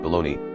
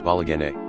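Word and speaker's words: bologna: your dedication to bolognia even though I know it's pronounced balone I can never not read it as balag I wouldn't even pretend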